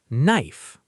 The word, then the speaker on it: knife: The K is silent. Knife.